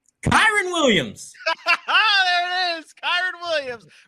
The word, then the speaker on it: Kyren Williams: How do you pronounce the name? Kyren Williams.